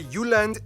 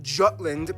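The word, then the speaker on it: Jylland: Denmark is made of the Uland, not Jutland, peninsula that connects to Germany in the south, as well as 1,419 islands.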